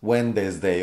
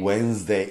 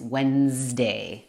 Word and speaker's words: Wednesday: No es Wednesday o Wednesday. Son dos sonidos. Sí. Wednesday. Y de hecho ahí está la Z con... Ese sí es el sonido. Wednesday, por supuesto. No es Wednesday, es Wednesday.